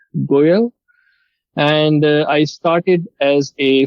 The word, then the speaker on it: Goel: hope you already know my name and then pronounces it correct but my name is goyal and i started as a full-stack web application